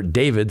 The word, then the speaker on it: D4vd: which was registered to singer David, spelled with a four.